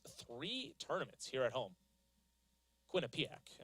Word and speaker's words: Quinnipiac: Quinnipiac as I butchered the first time of it. There we go. Second time is the better attempt.